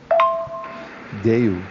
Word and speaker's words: দেউল: Deul. Even though actually the word, the way it is spelled, it should be deula, but in Bengali we